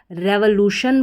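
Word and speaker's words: revolution: रेवोल्यूशन बोलें या रिवोल्यूशन बोलें, दोनों ही तरीके से प्रोनाउंस कर सकते हैं।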